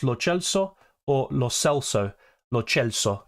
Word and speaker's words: Lo Celso: Lo Celso is how they say it in Argentina.